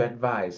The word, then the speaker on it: advise: So this is pronounced with a Z, not adise.